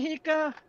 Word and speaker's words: Hika: Hi, Right? Hika. Did I pronounce her name right? Yeah.